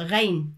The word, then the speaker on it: غين: ثم حرف الغين، العين ولكن بنقطة من فوق الحرف وتنطق غين.